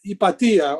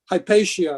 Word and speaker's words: Hypatia: for example uh up uh ipatia or hypatia i guess is the way she's pronounced that that phenomenal philosopher